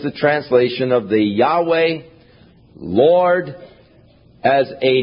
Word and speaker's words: Yahweh: opinion is that the name was to be pronounced Yahweh. But somewhere along the line, the pronunciation of Jehovah came along, or Yehovah, and it has become more popular, but Yahweh is probably the correct pronunciation, though we do